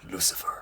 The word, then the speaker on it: Lucifer: It's pronounced Lucifer.